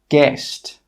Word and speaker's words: guest: Some common examples are guard, guarantee, guide, guest, guess. In all of these words, we're not pronouncing the letter U.